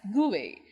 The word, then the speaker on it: GUI: a graphical user interface gui pronounced as gui between a computer and